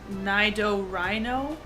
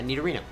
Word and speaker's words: Nidorino: Nido Rhino? Yeah, Nidorino. We pronounce it It's Nidorino. not Reno for rhino. It's Reno because that denotes male, as Rena is female.